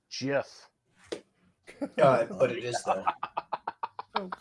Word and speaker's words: GIF: probably thinks it's pronounced jiff but it is though oh god it is pronounced choosy moms choose jiff but then they'll send